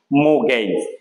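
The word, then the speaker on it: mortgage: এইটার উচ্চারণটা কি হবে মৌ গেইজ এখানে আর এর উচ্চারণটা হবে না আর টি এর উচ্চারণ হবে না এটা হবে মৌ গেইজ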